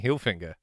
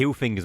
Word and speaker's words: Hilfiger: There's no N in it. Like, you can see that. Yeah, but Hilfinger's more catchy.